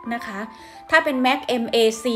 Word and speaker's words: MAC: สำอาง เคาน์เตอร์ แบรนด์ ค่ะ ทุก คน m a c Max อ่าน ว่า Mac นั่น ก็ คือ ไม่ ใช่ แม็กซ์ อย่าง นี้ นะ คะ ไม่ ใช่ นะ คะ แม็กซ์ แต่ อัน นี้ Ma